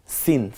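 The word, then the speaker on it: سين: পাশাপাশি থাকার দরকার নাই সিন সিনটা স্বাভাবিক একটু সি আওয়াজে উচ্চারিত হয় যেমন সাইকেলের পাম্প ছেড়ে দিলে যেমন একটা আওয়াজ হয় ঠিক ওইরকম সিন ঠিক তেমনি যদি প্রেসার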